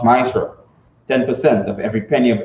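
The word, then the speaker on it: מעשר: It means 10 in the Hebrew and is pronounced Ma'asher.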